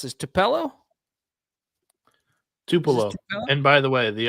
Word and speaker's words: Tupelo: McNeese is heading to, how do you pronounce this? Tupelo? Tupelo.